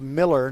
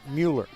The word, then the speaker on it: Miller: The coach is Sarah Miller, not Mueller.